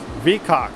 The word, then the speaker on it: VKAX: And yes, it does sound extremely funny, but I think that's how you pronounce it, but that's what it is, vkax.